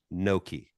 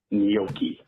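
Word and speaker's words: gnocchi: I first came on the n o Ki Noki oh up dumpers love you all please have Chef reactions tell Mike Mady how to pronounce noi it is not Noki it's noi correct I love you guys I love you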